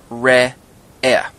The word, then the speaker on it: Re'eh: In this case, say R-E-H-E-H, Re'eh.